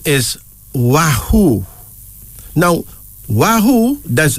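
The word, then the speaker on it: Wahu: of female names our first female name is wahoo now Wahoo does w a h u wahoo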